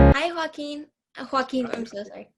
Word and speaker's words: Joaquim: Joaquin, that's the Spanish way. That's okay. I'm used to all kinds of pronunciation. In Portuguese, we say Joaquin.